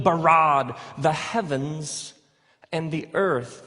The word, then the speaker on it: bara: now the word for create is the word bara let me hear you say brah what's this forceful energetic word of making things out of nothing in the beginning Elohim barad the heavens and the earth now the earth